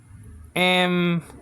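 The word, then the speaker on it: ἐμφανίζω: Or dzo. Or with a D. Dzo. Okay? Check with your teacher because it's hard to say dzo. I never say dzo with a D sound. You understand what I'm saying? I always say z.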